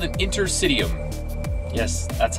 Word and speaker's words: interstitium: And it's called an Intersitium.